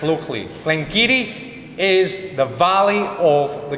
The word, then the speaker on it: Glen Garioch: anything but anyway going back to glengarry or glengiri as it's pronounced locally glengiri is the valley of the granary so a